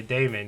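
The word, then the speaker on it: Daymond: Damon? Yeah, Damon.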